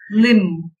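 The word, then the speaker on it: limb: Kom, bomb, தம், நம், லிம் இந்த மாதிரி வார்த்தையோட கடைசியில பி எம்மோட சேர்ந்து வரும்போது சைலண்டா வரும்.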